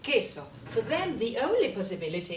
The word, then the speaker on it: queso: these two words or these three actually are pronounced queso for them the only possibility is this right